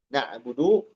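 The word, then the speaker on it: نعبد: Jadi iyaka dan na'budu disambungkan. Watal min na'budu duna ziadatin al dibaca domah huruf dal pada na'budu. Nah ini na'budu domahnya dibaca jelas. Jangan jadi sukun ya.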